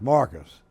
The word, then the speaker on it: Marques: So if any of you viewers are watching how you say his name is Rhett Marques by Alabama and the Wiregrass standards, it's Marcus.